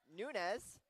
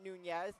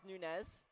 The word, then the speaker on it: Nunes: Sorry, their last name is pronounced Nunez, not Nunes, Nunez.